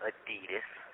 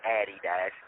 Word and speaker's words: Adidas: She's got as she calls them Adidas which you know everybody in America knows how to properly pronounce it. It's called Adidas, not Addie Dash.